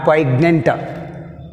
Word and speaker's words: poignant: See here, poignant which is silent, g is silent. Not poignant.